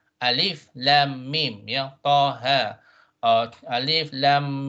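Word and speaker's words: الم: So this is when you pronounce the name of the letter, not how it sounds. It's not alama, right? Alif lam mim, yeah, taha, or alif lam mim sod, right?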